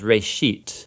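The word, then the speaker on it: ראשית: a Hebrew word uh it's pronounced Ray sheet and it just means beginning now there's a lot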